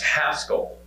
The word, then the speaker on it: Haskell: to throw out that it's actually pronounced Haskell to whoever said that just now.